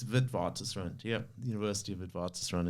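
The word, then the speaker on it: Witwatersrand: where I studied um it's sort of a Dutch name so that's why it's hard to pronounce but it's vidvat run yeah University of vivartis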